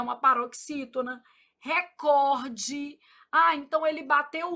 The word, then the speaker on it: recorde: Ô, Flávio, mas por que que todo mundo fala recorde? Não sei. Mentira. Sei. Influência do inglês, né, gente? Mas o certo é recorde.